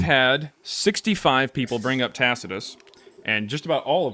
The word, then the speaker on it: Tacitus: wrote down if you have ever read Tacitus.